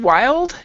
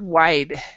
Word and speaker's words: wild: As far as the pronunciation of the word wild, you would say wild, wild, and Well, because this is what I heard. I heard the word wide, so wild.